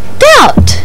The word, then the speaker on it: doubt: Babble believe and crib this letter is silent in words like lamb crumb and doubt this sound is S